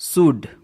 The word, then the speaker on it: should: जब किसी वर्ड में एल के बाद डी, एफ, के और एम आए तो एल साइलेंट होता है. चलिए देख लेते हैं एल डी पैटर्न वाले वर्ड कौन कौन से हैं. Example first शुड, SHOULD, शुड, जिसमें एल और डी